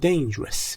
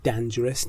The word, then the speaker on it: dangerous: Since the area was so dangerous. این کلمه هم تلفظش dangerous نیست. Dangerous.